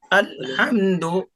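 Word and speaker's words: الحمد: असल असल में होता क्या है, आदमी अल ही पढ़ रहा होता है, लेकिन जल्दी से जो पढ़ता है ना, अलहम्दु सुनाई आता है उसका।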